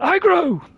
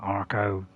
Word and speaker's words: Agro: Which is called Agro! Although some people pronounce it differently, you know, Arco, Arbo.